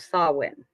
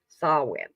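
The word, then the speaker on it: Samhain: its roots in the ancient Celtic Festival of sawin spelled samh it's the GAC pronunciation sawin a pagan religious celebration to welcome the Harvest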